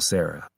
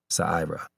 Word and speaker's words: Sira: I admit I assumed her name was like the traditional Sarah, not Sira.